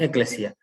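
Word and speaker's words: ἐκκλησία: pueblo de dios primero un concepto griego en iglesias y se dice la pronunciación es eclesial es el conjunto de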